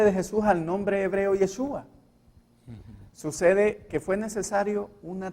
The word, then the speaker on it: Yeshua: Se pronuncia Yeshua, hermanos. No es Yeshua ni Yachua, no.